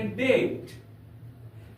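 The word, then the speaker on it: debt: डेट नहीं पढ़ेंगे य पर हम लोग पढ़ेंगे डेट डेट का अर्थ होता है कर्ज प्यारे बच्चों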